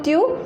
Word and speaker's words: tu: So tu, the pronunciation is tu, and this meaning is you.